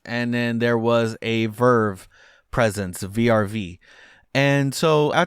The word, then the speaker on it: VRV: It's spelled VRV, but it's pronounced Verve. And this was launched in 2016. And so Verve was really interesting.